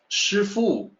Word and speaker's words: Sifu: the driver of a vehicle you may say sir fool and people know that you are denoting profession